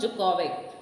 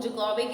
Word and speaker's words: Djokovic: D is silent.